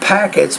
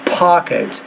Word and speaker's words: pockets: grains you will see there are not packets but pockets air pockets between the grains